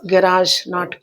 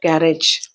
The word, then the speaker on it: garage: That is garage, not garage.